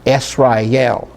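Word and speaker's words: ישראל: Okay, so, and then we followed by a lamed. So we have Esrael, and so that's where the vowel points come into play to tell us how to pronounce it.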